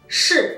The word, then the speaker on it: 是: Sino que es como que uno levanta la lengua, ¿sí? Lo pone arriba en el paladar y dice simplemente shi, ¿sí?